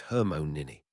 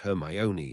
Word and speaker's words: Hermione: Your name is Hermmon Nini. Actually, it's pronounced Hermione in your name.